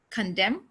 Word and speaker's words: condemn: not autumn season column condemn him and damn this n sound is not pronounced okay if it comes